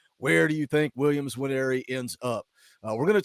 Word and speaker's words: Williams Nwaneri: I've been saying it wrong so many times. Williams Nwaneri, not Williams in Nwaneri. Williams Nwaneri.